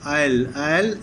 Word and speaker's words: aisle: As they passed down the aisle of the coach, aisle, S is silent here, aisle means passage of the coach, the only vacant seat offered was a reversed one facing the attractive young woman.